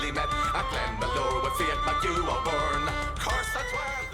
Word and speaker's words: Fiach MacHugh: Let us explore the meaning behind the lyrics of the marching song of Fiach MacHugh, or Fiach MacHugh if you prefer the Irish pronunciation, by Cruachan.